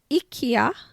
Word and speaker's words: Ikea: and when you're in Ikea and by the way can I tell you that my Swedish fiance tells me it's pronounced Ikea I'm sure he gets